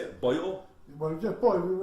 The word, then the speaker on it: Boil: Well, yeah, Boyle. It was spelled B-O-I-L, as in boiling a kettle.